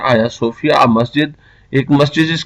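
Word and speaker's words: Hagia Sophia: गया था या सोफिया यह थोड़ा सा जी साइलेंट है आया सूफिया मस्जिद एक चीज का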